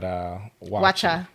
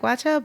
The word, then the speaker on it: waakye: But and then they had Wacha. Well, it's spelled WAAKYE. So wacha doesn't look like wacha, but it's It's like a beans and rice type dish.